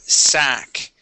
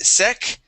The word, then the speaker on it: sack: Now, the word sack. Where are you at? Second Right line. here. Yeah, so you had said sec. Okay, it is an a sound.